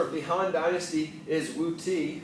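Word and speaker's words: Wudi: Another famous ruler of the Han Dynasty is Wu Ti, or often you see it pronounced Wu Di as well.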